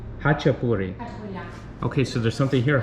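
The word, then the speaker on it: ხაჭაპური: And how do you pronounce it? Chashapuri? Hachapuri.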